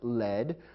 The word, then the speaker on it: lead: However, there's another word pronounced led, which is spelled the same as lead, L-E-A-D.